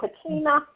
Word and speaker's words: Kachina: Just spell that for me, Kachina.